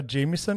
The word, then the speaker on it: Jamieson: Jamieson, is it? Yes, that's Perfect. right. That's the right pronunciation.